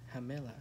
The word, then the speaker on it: Hamela: Yep, so is pronounced Hamela, I guess. Hamela? Yep, she pronounced as an H.